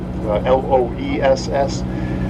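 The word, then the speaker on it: loess: known as glacial Lo l o SS and glacial Los or glacial loss depending on how you pronounce it glacial Los material is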